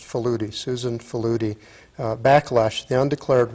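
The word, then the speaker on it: Faludi: by uh i guess her name is pronounced falooti susan falooti backlash the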